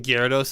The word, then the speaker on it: Gyarados: Because I definitely don't pronounce the Y as hard as I probably should. Like, some people are like, Gyarados. And I'm like, Gyar. So, it could be an accented thing where, Gyar.